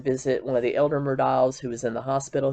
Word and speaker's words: Murdaugh: However you want to pronounce it, I get corrected on every video that I do, but I'm going to pronounce it Murdaugh.